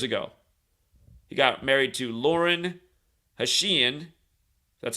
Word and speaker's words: Lauren Hashian: day four years ago he got married to Lauren hashian that's how you say it August 18 2019